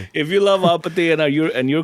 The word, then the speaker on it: APT.: APT Bruno Mars featuring Rose, but it's it's pronounced Apate.